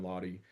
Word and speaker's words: Laude: It's just my name, Ben Lahy on YouTube. I've got an Instagram, too. I'll sometimes spell my name phonetically, L a wy so it's clear how to say it, but uh l aud